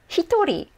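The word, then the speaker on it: 一人: seven people so remember those exceptions let's go hitori not even close to ichi but let's keep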